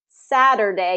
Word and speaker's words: Saturday: Again, that T becomes a D because of that tap T rule. Saturday. Day has that long A, so I write as a capital A because it has a long A in it, and it says its name, A, okay? Saturday.